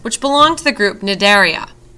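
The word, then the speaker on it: Cnidaria: belong to the group nidaria the sea is silent other narian include hydras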